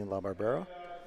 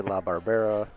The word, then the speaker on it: LaBarbera: You could say LaBarbera, LaBarbera, depending on your pronunciation.